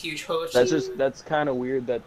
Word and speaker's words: Hugehochie: It's supposed to say Hugehochie, but that's how we got away with it through Xbox, was Hochi. So the way we pronounce it is Hugehochie.